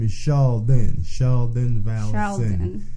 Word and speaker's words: Charldyn: then my name is Shon Shon Val it's like Sheldon but Shon Charon you gotta be